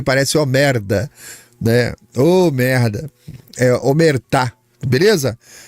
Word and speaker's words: Omertà: Capit é omertar, tá? Homertá. É omertar. Ottar italiana. Eu fui procurar a pronúncia correta, né? Eu fiquei falando omerta porque parece omerda, né? Merda. Eh, omertar.